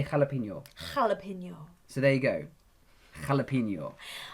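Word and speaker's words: jalapeño: accent yes that page it's the way we pronounce their J in Spanish so now say hello now say Cala pineal jalapeno so there you go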